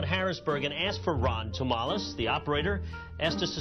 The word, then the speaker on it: Tomalis: switchboard in downtown Harrisburg and asked for Ron Tomales the operator as us to spell it t o m a l i s